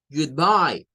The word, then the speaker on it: Goodbye: acá la siguiente es Goodbye good ahí tenemos dos sílabas la primer sílaba se forma de good el sonido doble o suena a una especie de u pero ya habrán notado